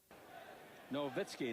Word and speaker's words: Nowitzki: Nowitzki. Now, that W is all right, but it's pronounced Vitsky. Leitner in the middle.